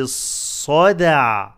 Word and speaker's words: الصدع: ذاتي الصدع صدع صدع قلقلة اندال make the صد heavy and dal light with قلقلة.